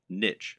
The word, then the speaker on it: niche: Or to use the correct internet business parlance, what is your niche, or niche as some people pronounce it? A niche is a subject that will appeal to a specific audience.